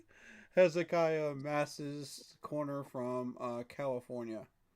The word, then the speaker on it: Hezekiah: Hezekiah Mass's corner from uh California to the Raiders. We got Hzakai. Hezekiah. That's how you say that name.